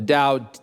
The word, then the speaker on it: Tao: it's fundamentally about what C.S Lewis called it down the rest of my time is going to